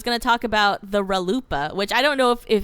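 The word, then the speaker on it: RLUIPA: 2000, and it's and I like it because it rhymes with chalupa, so I say.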